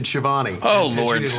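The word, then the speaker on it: Schiavone: Uh the real pronunciation of the name is Shioone.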